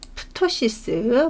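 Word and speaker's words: cystoptosis: 예 그래서 방광에 씰 방광에 투토시스 물론이 피는 묵음입니다 그 다음에 방광하고 바자회날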